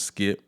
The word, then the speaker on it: Skypp: You know, I go by the name of Skypp. That's spelled Skypp.